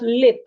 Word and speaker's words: lip: I have lip and leap. Lip, LIP, lip. Leap, LEAP, leap.